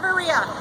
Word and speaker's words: Echevarria: Is that how you pronounce it, ma'am? Echevarria.